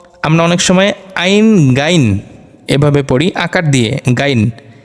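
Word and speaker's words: غ: মূলত এটা শুদ্ধ না শুদ্ধ হচ্ছে গাইন গাইন আর আমরা অনেক সময় পড়ি হা এরকম পড়ি খা না খা যখন মুখের মধ্যে গলায় কফ আটকালে খত করি ওরকম করে একটু উচ্চারণ করতে হবে হবে যাতে করে হলকের শেষ অংশ যেই জায়গাটা ওখানে একটু وائبব্রেশনের মত হয় একটু কাঁপে আমরা হাত দিলে দেখতে পারবো উচ্চারণ সময় ওখানে একটু কাঁপছে হলকের শেষ হইতেন খাইন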